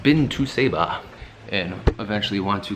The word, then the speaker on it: Saba: for the people that have not been to Ceiba and i've actually want to come or want